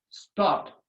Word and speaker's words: stopped: I say I stop with the ED, but I pronounce stop.